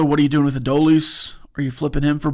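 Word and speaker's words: Adolis: And then also, what are you doing with Adoleis? Are you flipping him for bullpen pieces? Do you keep him? Sorry, a raldis. Yeah. No, I said it right. It's a dolies.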